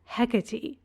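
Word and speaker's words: Hecate: for our purposes so I pronounce the goddess's name hecy as hecy I pronounce it that way because well I'm pronouncing it like similarly spelled names that are commonly pronounced in English in that way like pany copy hermion Daphne Phoebe so if you want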